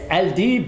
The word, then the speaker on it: Aldeeb: Comment se prononce votre nom? Alors, moi, et Aldib ou Aldib, ça veut dire les loups.